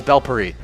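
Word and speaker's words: bhel puri: It's Kerala fried chicken Katie roll, butter chicken samosas, sweet veg samosas, and bell puri, bell puri, and it's bell puri.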